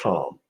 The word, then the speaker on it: Thom: So it is pronounced Tom. Okay. The H is silent.